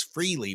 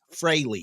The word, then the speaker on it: Frehley: and it is pronounced fry all of us grew up calling him Ace Freely but it's Ace Frey so if I fall